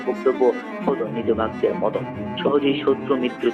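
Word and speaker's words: Hatun: রিমা রেজিয়া তুর্কি ভাষায় ধ্বনিত্ত্বের কারণে কিছু শব্দের উচ্চারণ পাল্টে যায় যেমন খাতুন হয়ে যায় হাতুন খুরম হয়ে যায় খুরম আমাদের জানা অনেক শব্দ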